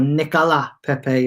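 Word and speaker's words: Nicolas Pépé: saw the worst of nicolas pepe or nicola pepe as people like to pronounce and and the reason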